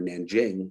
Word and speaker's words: Nanjing: in the city of Nank King or Nanjing, depending on how you pronounce it, I mean, it's